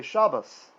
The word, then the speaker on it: Shabbat: american jews are ashkenazi german jews will say shabbas right shabbat right because there's no dot in there so that's why you don't need to do that we're always going to use the sephardic pronunciation in this class which is the spanish jewish pronunciation because that is what is used in the land of israel and for the sake